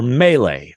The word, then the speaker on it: melee: Or melee. Those are the two that Rick came up with. Which he mispronounced. He called it a melee or something.